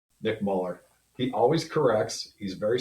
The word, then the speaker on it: Muller: Couldn't be happier than to have Nick. Nick Muller. He always corrects. He's very sensitive about the pronunciation of his name.